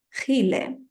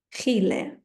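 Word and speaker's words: Chile: закінчення єн билієн пон не забуваємо це х комбінація читається як х тому Чилі буде хіле хіле і так само Китай хіна хна япан япан Японія ін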